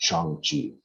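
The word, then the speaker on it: Shang-Chi: just you know in parentheses uh yeah it's chongchi yeah so the new trailer it's a short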